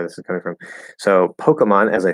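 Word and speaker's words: Pokémon: okay yeah pokemon um or some people say which all these people are of older generations pokeman which i don't know why they do it because there's not even an a in it that doesn't make any sense at all but some older people will say it that way pokeyman um so i usually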